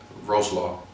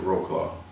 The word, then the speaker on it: Wrocław: The first year though, I was in a nice city in Wrocław, or Americans would pronounce it Wrocław.